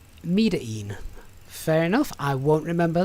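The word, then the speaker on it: Medellín: and starting agent one a token says it's pronounced uh metering fair enough i won't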